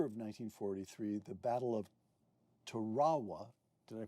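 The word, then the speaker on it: Tarawa: In November of 1943, the Battle of Terawa. Did I pronounce that correctly? Terowa.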